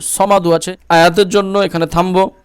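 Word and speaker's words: ٱلصَّمَدُ: জবর ল হাফেজ হু এখন এই যে সদের উপর কি রয়েছে তাসদিদ তার জন্য হাদ পেশ হুস পড়বো ঠিক আছে আল্লাহুস সদ জবর স মিম জবর মা দাল দাল পেশ দু সমাদু আছে আয়াতের জন্য এখানে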